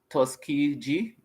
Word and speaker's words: Tuskegee: the tus okay me always get get them name wrong right and it's it's tusy tusy g tusy g okay so it's t u s